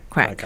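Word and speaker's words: craic: But it's pronounced as crack, right?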